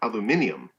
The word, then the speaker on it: aluminium: made of rolled aluminum so aluminum or as the british say uh aluminium and i think they say that because it sounds more scientific it sounds more like an element yeah and i don't know if originally it had the eye in it it still they spell it with the eye so you know aluminium yes yes and however